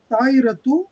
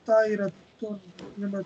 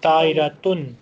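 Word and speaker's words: طائرةٌ: Do you say tairatu or tairatun? Tairatun, tanween, not dhamma.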